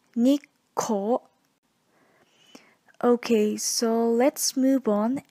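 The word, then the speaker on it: 日光: in Japan for sightseeing some students pronunciate this word Nikko but you need to make sure to include the small two as well the correct pronunciation will be Nick Cole okay so let's move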